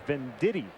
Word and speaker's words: Venditti: about pat it's called his last name is ben diddy that's how you pronounce it the ambidextrous diving stop